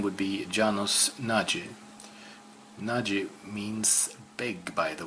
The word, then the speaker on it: Nagy: Janos Nagy. Let's see if I can pronounce his last name correctly. It would be Nagy.